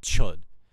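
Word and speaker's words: Chöd: a very um extreme form of meditation called chud it's spelt c-h-o-d but the o has umlauts on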